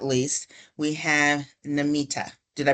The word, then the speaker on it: Namita: And last, but definitely not least, we have Namita. Did I pronounce that correct?